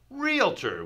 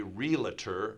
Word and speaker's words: realtor: and leave that off realtor often times even growing up I would say realtor realtor adding a little sound here kind of like